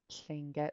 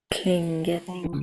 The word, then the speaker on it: Tlingit: Yeah, it gets pronounced with a K, but actually the word is Tlingit. So let's practice that one again. Repeat after me. Tlingit. Klingit.